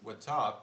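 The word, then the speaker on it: watap: be the word w-a-t-a-p i believe pronounced with top but it is gonna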